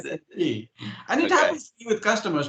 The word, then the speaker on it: SAP: If you pronounce it SAP, half the people would not talk to you. Okay. It is SAP.